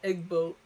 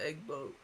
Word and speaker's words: EGgBOAT: what what is now egg boat uh the the small g is silent yeah um it's just